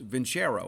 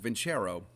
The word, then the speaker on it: Vincero: It's Vincero. That's how you pronounce it, Vincero.